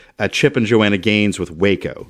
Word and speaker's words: Waco: I think it's also supposed to evoke a little bit of Chip and Joanna Gaines with Waco. It's pronounced Wacko.